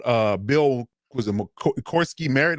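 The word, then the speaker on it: Croskey-Merritt: Corsky Merritt, that's how you say his name.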